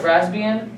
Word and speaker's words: Raspbian: One that I suggest is, I think how you say it is Raspbian. And that's how you say it, Raspbian, but it's also known as the Raspberry Pi OS, which is its new name.